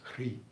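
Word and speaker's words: hrīḥ: And so they share a seed syllable, which is Hri, or Hri. Hri. You can just say H-R-E-E if you want.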